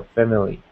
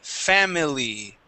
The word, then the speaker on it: family: married and had a family. Okay. Uh very good. Let's uh let's uh take a look at some words. So, a trick with this word here, we actually do not say family pronouncing that I sound.